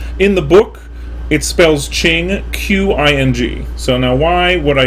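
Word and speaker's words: Qing: guiles well because if you write a queue in english i'm going to say something like queen and that is obviously not how you say ching right so and again i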